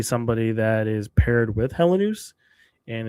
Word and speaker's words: Helenius: So, Helenius, sorry, I keep saying Hellenius. Helenius, to be clear on the way you pronounce his name, likely would be a part of it.